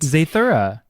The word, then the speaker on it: Zathura: it um and it's called uh uh yeah zathura um the film adaptation was like a pseudo sequel that was created in 2005 and starred josh hutchinson and chris stewart zaythora yes yes that's how you pronounce it um and it was literally and